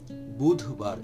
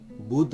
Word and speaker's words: বুধবার: বুধবার, এখানে একটু ভুল হতে পারে, সেটা হলো ধয়ের উচ্চারণটা দয়ের মতো হতে পারে। বুধ না বুধ, বুধ, বুধবার, বুধবার।